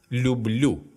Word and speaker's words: люблю: As you can see, in the first person singular, the form I, я, the sound Л has been inserted. Люблю. In all other forms, the stem stays the same, but the stress shifts back one syllable.